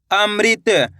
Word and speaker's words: अमृत: माँ में री की मात्रा मृ, तो मिलके बन जाएगा अमृत।